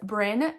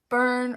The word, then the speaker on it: Bryn: It's Bryn, Brynne, but most people say Byrne or Bryony or.